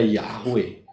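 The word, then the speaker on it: Yahweh: Yod he W lah kalau Yod he W bacanya gimana Ya yahwe sudah gak ada lain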